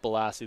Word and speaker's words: Balassi: So Balassi here, Morgan Balassi, or Bilassi, or different ways we can pronounce it. We're going to go with Balassi, though, is I think the one I'm going to stick with.